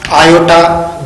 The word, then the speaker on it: iota: This Z is equals to A plus iota B. A plus IB. Don't say it I, say it iota.